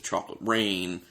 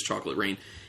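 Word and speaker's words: Chocolate Reign: it is spelled differently it's said the same way as Chocolate Rain uh rain is spelled re GN instead of r a i n so this is a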